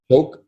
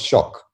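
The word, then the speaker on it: Choque: It's pronounced Choke. No, it's pronounced Shock, but it looks like Choke.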